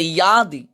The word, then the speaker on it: যদি: যদি, সংস্কৃতে অন্তস্থজর উচ্চারণ ওয়াই এবং অন্তস্থার মাঝামাঝি, এটা সংস্কৃতে ইয়াদি।